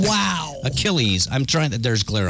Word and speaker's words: Achilles: for mythological hero Achilles unfortunately theer pronounced Achilles aillis and lost that's ridiculous it's